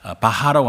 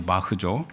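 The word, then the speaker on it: Bach: 우리가 바하라고 하는데 원래 독일 사람이니까 발음이 바흐죠.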